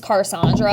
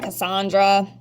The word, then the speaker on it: Carsondra: My name's Carsondra, and I get a lot of, Cassandra.